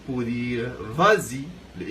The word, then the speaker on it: vas-y: au marché, je dis vas-y. Alors là, j'ajoute un S pour le verbe va, tout simplement pour adoucir la prononciation.